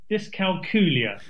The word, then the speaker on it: dyscalculia: How do we pronounce it? Dyscalculia. So dyscalculia, that's it. So that's a good way to remember it. As you say, Kat, it sounds like Julia.